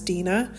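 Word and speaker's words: Dinah: yakob of Jacob um I pronounce it Dina maybe some some of you pronounce it uh as Dena I say Dina um I could be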